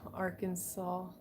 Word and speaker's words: Arkansas: you had it dt say it with the saul not our kansas um now we do have uh right where texas and arkansas meet is texarkana so